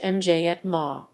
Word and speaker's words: Myanmar: either burma or myanmar in burmese the pronunciation depends on the register used and is either obama pronounced viet ma or miama pronounced mj at ma the name burma has